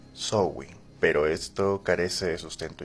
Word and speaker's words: Samhain: Irlanda como zwing que a pesar de que se escribe sing o samaín se pronuncia así sowin pero esto carece de